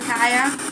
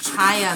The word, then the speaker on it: Chaya: Is Connie here still that would like to speak to her friend Kaya? I think it's pronounced Chaya though, isn't it? Princess Kaya, isn't your name pronounced like Chaya, like C-H-A-Y-A?